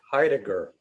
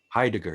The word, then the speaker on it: Heidegger: headache how do you say that philosopher's name heidegger heidegger heidegger yes i i got into him a little